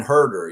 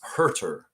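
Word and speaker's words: Huerter: Kevin Herder. Yeah, Herder. It's not herder like a hurting sheep. It's hurtter. Hurtter. Hurt. H Urer.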